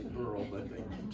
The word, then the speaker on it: Beryl: You know, it's spelled B-E-R-Y-L. I keep saying Beryl. I want to say Beryl, but they keep saying Beryl.